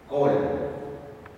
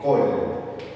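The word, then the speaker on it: כל: palabra como en esta palabra que significa todo col aquí en esta palabra a pesar de que tiene un cex mírenlo aquí se pronuncia o y se se lee col bueno son excepciones de las reglas Entonces vamos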